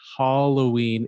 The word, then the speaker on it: Halloween: So the long A, Halloween, is the American way. The short A is the British way.